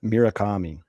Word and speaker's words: Murakami: Yeah, Munetaka Murakami.